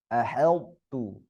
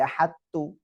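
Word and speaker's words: أَحَطْتُ: Aheltu, aheltu, nggak boleh baca ahadtu, harus baca aheltu.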